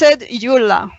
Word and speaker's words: Yula: And her name is Yula. It's pronounced Yula.